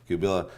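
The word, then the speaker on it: Qubilah: Now your sister, Kabila, how do you pronounce it? Yeah. Kabila, she was actually charged with conspiracy to kill Louis Farrakhan.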